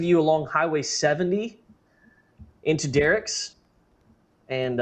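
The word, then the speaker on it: Dierks: Uh, for those of you along Highway 70 into Derek's, and I've had locals tell me that's what it's called, even though it looks like it's Durks.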